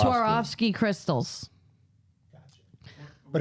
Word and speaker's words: Swarovski: Sarovski. Swarovski crystals.